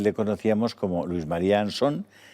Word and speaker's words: Ansón: María anson no yo creo que el apellido está castellanizado y se dice anson no es que mi apellido tiene un origen británico de un pirata británico que se llamó anson entonces allí se pronuncia así pero aquí en España siempre hemos dicho ansón es como si dices